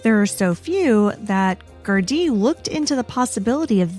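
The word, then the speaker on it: Gardaí: I went through the entire episode saying Gardai, when it should be, at least according to the internet, Gardai.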